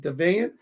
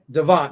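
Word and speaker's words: Deveant: Is it Devane? If you could say hello to, is it Devane? Devane? Daveant. Devant? Devant. There we go.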